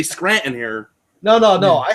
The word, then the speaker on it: Scranton: Yeah, it's Scranton. No, it's not. Yeah, there's no T in Scranton. When you say Scranton, it's just an unintelligible word. Yeah, when everyone knows what you're saying. Scranton's like 1.5 syllables.